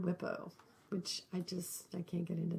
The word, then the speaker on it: WIPO: I always pronounce it WIPO, but I've heard WIPO, which I can't get into that.